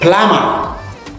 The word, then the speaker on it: plumber: doubt ba number 2 plumber then to say plumber the b is silent yay number 3 bomb